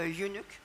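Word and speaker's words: eunuch: old faithful servant a unuk how do you say unuk yes unic is fine unuk unuk okay to Paris and he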